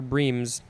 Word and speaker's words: bream: Next is the second form of the same word, but this one says it's pronounced bream, not brim, spelled the same.